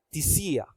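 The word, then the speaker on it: θυσία: Esta palabra griega que se pronuncia tisía.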